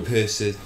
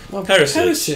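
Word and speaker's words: Perišić: Ooh, Perisic. Perisic. There you go. Right. Fantastic. It's like Periscope, but with a C on the end.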